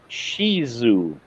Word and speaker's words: Shih Tzu: It's actually the actual pronunciation from what I see on Google is you pronounce it Shizu.